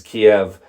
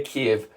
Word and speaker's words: Kyiv: But Kiev is the closer pronunciation versus Kiev, which is the Russian, which obviously nobody wants to share that anymore. So now you know how to say Kiev.